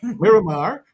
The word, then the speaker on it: Miramar: Maramar Florida yeah you give me the proper pronunciation mirar Miramar Florida okay so he's going to come in